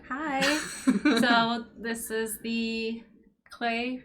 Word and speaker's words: Klei: So this is the Klei Rhymes with Klei dev stream.